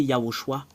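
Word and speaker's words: יההוֹשֻׁע: Voilà, c'est Yahushua.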